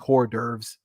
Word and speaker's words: hors d'oeuvres: hors d'oeuvres out there yes i say like hors d'oeuvres that's how you say it i don't know why americans change it i don't know why